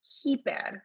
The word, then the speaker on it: hyper: I see Nasima saying, do we pronounce the H in hyper? Yes, we do. Hyper. That's a very good point. We also don't say hyper or hyper. It's hyper.